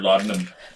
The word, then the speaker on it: laudanum: It took me forever to learn how to pronounce that word, Laudanum? laudanum. Because the way it spells, it's like la la la la la la.